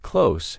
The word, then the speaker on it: close: The S sound at the end of the word close should be a Z, a voiced sound Z and not S.